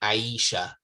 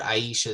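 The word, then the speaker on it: عائشة: amongst the people to say ayisha aisha aisha right so the sister aisha is coming right but this is uh the correct way to pronounce it in arabic okay okay sister claire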